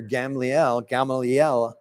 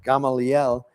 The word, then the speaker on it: Gamaliel: In saying this, they're sort of reminding themselves and the Sadducees of their great leader, Gamaliel, I think is how it's pronounced, Gamaliel.